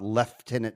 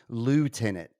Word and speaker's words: lieutenant: had a discussion about leftenant versus lieutenant and that's exactly what it is British Americans pronounce it left tenant it's that simple I could have swore